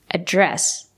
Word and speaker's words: address: If it's a verb, you have to stress the second syllable, address. They addressed the problem in the meeting.